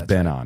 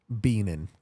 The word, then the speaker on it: Benan: The name is Benan. Right. Yeah. And I call you Benan. Benan. That's right.